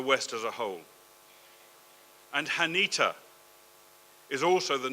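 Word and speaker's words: חנית: I think it's actually pronounced Hanit, but I can't do the ch, so it's Hanit.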